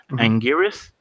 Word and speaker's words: Anguirus: I really want, and I might butcher the name because I don't know if it's pronounced right. Anguirus? Yeah, you got it. Okay, I really want an Anguirus, man.